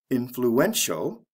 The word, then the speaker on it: influential: if with this word there's also a stress change for example influence the stress is on the first syllable influential the stress comes right before the ending cause causal notice we're